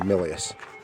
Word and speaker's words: Milius: There's director John Milius, or Milius, is how you pronounce it.